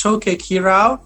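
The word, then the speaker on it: Choquequirao: and that's that's how you pronounce it right chuck choco what is it yes that's the first thing it sounds like weird to be honest but it's chokey kirao which is basically naming after like a very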